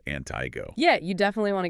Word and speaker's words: Antigo: And for anyone not from around here, that's pronounced Antigo.